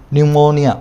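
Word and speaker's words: pneumonia: अभी लिख नहीं पाओगे यह पीछे शुरू होती है और पीस साइलेंट होता है ना न्यूमोनिया पीछे से शुरू होता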